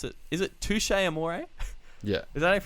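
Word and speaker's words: Touché Amoré: don't know how to pronounce it is it touche amore yeah does that pronounce it for some reason yes but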